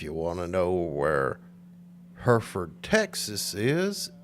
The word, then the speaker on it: Hereford: I said, is it Hereford? Hereford? But they straightened me out. It's Hereford. And if you want to know where Hereford, Texas is, it's about 40 miles uh, west, southwest of Amarillo, Texas.